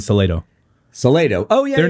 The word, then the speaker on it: Salado: in a town get to pick how it's pronounced. Yeah. And so it is Salado.